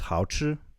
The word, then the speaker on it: 好吃: Well, delicious in Chinese is 好吃. So would you say this one is 好吃? How do you say it? 好吃? 好, like 你好, 好. 好. And then 吃.